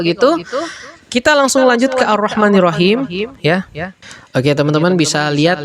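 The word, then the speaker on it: الرحمن الرحيم: Contoh, Ar-Rahmanir-Rahim, Ar-Rahmanir-Rahim, Ar-Rahmanir-Rahim. Maka tata cara bacanya bukan Al-Rahmanir-Rahim, tapi Ar-Rah, ya, bukan Al-Rah, tapi Ar-Rahmanir-Rahim.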